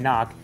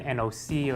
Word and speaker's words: NOC: handful of people about the name nock and I know people online and the pronunciation of this could have been nOCO etc so I call them NOx for a particular reason but I want you